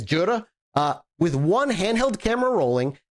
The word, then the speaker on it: Jura: I think that's how you say it, Juri. It's Jura.